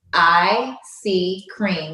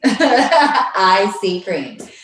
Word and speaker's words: EyeSeaCream: The social media handle for that is IC Cream, which is spelled EYESEACREAM. So literally, IC Cream.